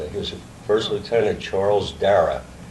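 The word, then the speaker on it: Darraugh: He was an ancestral uncle, and he was First Lieutenant Charles Dara. It's an Irish name, D-A-R-R-A-U-G-H. Oh. Right? You can eliminate the U in later pronunciation or spelling of it.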